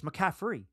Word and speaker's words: McCaffrey: I never once said a T. It's McCaffrey, right?